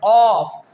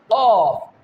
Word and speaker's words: ق: When the back part of our tongue will rise towards the upper part of our mouth, that is the soft part, then the letter off. How can we pronounce? Off. Off. When we rise our tongue, then the letter off will pronounce.